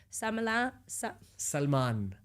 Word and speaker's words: Salman: Sorry, Salman. See, in Chinese we so hard to pronounce Indian's name.